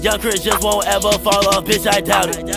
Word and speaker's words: Yvngxchris: top three I'm accounting y v n GX c h r i s that's how you pronounce it young Christi just won't ever fall